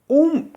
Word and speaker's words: ओम: उ म ही है इसलिए अ उ और म ऐसा इसका उच्चारण है ध्वनि का उच्चारण ही इस प्रकार लेकिन हम ओम कहने लग गए एकदम ओम ओम ओम ओ और म कहने लग गए जबक अ उ और म इन तीन शब्दों से मिलकर उच्चारण इसका होता है इसकी विशेष बात यह